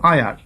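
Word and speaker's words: heir: আয়ার, যেমন এইচ এর উচ্চারণ হায়ার না কিন্তু আয়ার।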